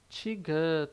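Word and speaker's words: 디귿: Mas, na verdade, ela vai ter um som de T ou D. T ou D. Então, ela tem um som de T no início da palavra, né? Na primeira sílaba. E o som de D no meio ou final, na segunda sílaba, terceira sílaba e assim por diante.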